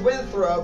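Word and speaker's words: Winthrop: in my GG Park which we called Windthrop pronounced windthrow by the natives and M Karen Parks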